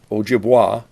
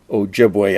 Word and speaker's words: Ojibway: now be renamed ojibwe i know some people call it ojibwa but i come from saginaw michigan and was raised having picnics on what we always called ojibwe island so that's the way i'll pronounce it here we see her